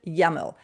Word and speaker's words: YAML: We pronounce it YAML.